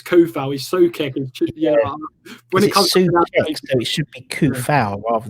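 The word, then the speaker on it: Coufal: or coup foul um no one's really sort of found out how to pronounce it properly i'll get on my videos like always get ben is so foul it's ko foul he's so kevin yeah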